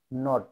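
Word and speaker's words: knot: কে এন ও টি, নট, মানে gift, এখানে কেটা উচ্চারিত হলো না, কে সাইলেন্ট।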